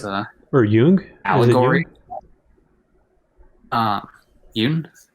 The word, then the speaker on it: Jung: or jung allegory uh yoon it might be pronouncing j-u-n-g yep yeah i've never you know i've never actually heard it pronounced out loud so that's that's how he pronounces it so that's that's why